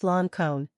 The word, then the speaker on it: Lincoln: of the Rebellion, and the name of Lincoln, pronounced Loncone, who wanted all men to be free and equal, sounded through the room.